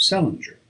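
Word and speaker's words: St. Leger: Patience, who was born in 1858, married an Irishman of the name of Salinger, which was the usual way of pronouncing the name of Salier, or as they spelled it, St. Ledger, restored by later generations to the still older form.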